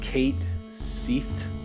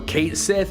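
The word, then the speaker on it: Cait Sith: They've confirmed in Final Fantasy VII it's going to be pronounced Kate Seath. I don't know if that S-I-H Sith. Sith, like they're going to pronounce it Kate Sith, like Sith Lord. Okay, there we go. So Kate Sith is how I've always said it. I know that it's technically incorrect, but that's okay.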